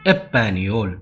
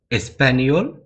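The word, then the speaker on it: Español: ஸ்பேனிஷ Spanish கண்ட்ரிஸ்ல வந்து எஸ்பேனியோல் அப்படின்னு சொல்லுவாங்க சில பேர் வந்து எஸ் சைலன்ட் ஆக்கிட்டு எப்பனியோல் அப்படிவாங்க எஸ்பேனியோல் எப்பனியோல் ஸ்பெயின் அந்த ஒரு நாட்டை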